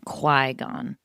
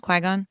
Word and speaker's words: Qui-Gon: Qui-Gon. That's how it's pronounced. Qui-Gon.